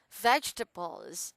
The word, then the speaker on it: vegetables: restaurant vegetables vegetables okay so it's like veg to balls vegetables vegetable bath turbos yes